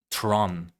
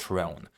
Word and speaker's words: Tron: Tron, not Throne. Tron.